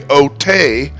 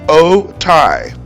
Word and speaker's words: Otay: Now, you might be tempted to say Otay, but in Spanish, the letters A and Y together make the I sound. So the correct way to say it is Otay, Otay Mesa.